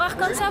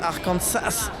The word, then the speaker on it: Arkansas: Ah, les Français qui prononcent Arkansas alors que les Américains disent arcans et pourtant les Américains prononcent toutes les lettres à chaque fois.